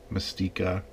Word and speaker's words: Mastiqua: I'm pronouncing this wrong mystique it's like the x-men character mystique okay I'm gonna say